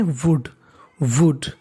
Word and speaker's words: would: अगली जो मीनिंग है वो इंपॉर्टेंट मीनिंग है, मीनिंग क्या है WOULD, इसे पढ़ते हैं वुड, एल इसमें साइलेंट रहता है।